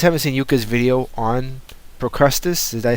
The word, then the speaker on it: Procrustes: But I gotta tell you, if you guys haven't seen Yuka's video on Procrustes, did I say it right?